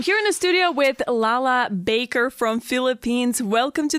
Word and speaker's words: Lala: proudest moment I'm here in the studio with Lala Baker from Philippines welcome to the show and